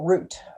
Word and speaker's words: Ruth: the other one was named ruth or root in the jewish pronunciation so while they're down